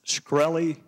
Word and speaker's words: Shkreli: thank you Mr chairman is it pronounced scy yes sir see there you can